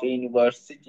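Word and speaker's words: university: এ বসছে student of ইউনিভার্সিটি ইউনিভার্সিটির আগে ইউনিভার্সিটি উচ্চারণ যখন আমরা করি তখন ইউর মত করি এজন্য ইউনিভার্সিটি আগে এ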